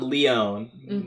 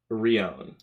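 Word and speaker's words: Lion: l and r so so it's not leon but it's more like rion rion like that kind of pronunciation but yeah okay ryon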